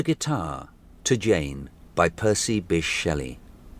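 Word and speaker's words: Bysshe: Google says Bice, which is pronounced Bish Percy Bish Shelly.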